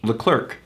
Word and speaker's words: Leclerc: Brad the demigod yeah they don't understand his name is pronounced Leclerc yeah for example Leclerc